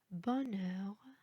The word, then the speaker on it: bonheur: الحرف H في الفرنسية هو حرف صامت لا ينطق أبدا. habitation, handicap, haricot, bonheur, trahison, inhabituel.